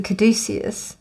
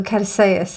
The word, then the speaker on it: Caduceus: The only thing I can think about that is the Caduceus, or the Caduceus. I think that's how you're actually supposed to say it.